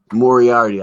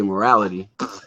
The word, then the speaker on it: Moriarty: last name more already lee moriarty moriarty i was about to say morality and then of course